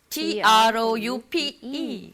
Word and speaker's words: troupe: Troop of monkeys, exactly the same pronunciation.